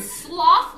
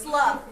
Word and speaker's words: slough: I think you know a gross word sloth. Like when you sloth something on. Yes. Yeah. That's slough. No sloth. But it's the it's spelled the same.